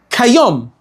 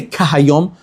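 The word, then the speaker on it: כיום: It should really say kayom. It shouldn't say kahayom. Who are the Hebrew speakers here? Hebrew speakers? Is there such a thing as kahayom? Kamohayom. Right, kamohayom, but not kahayom, right? How do you say kahayom, like the day? Kayom. You say kayom.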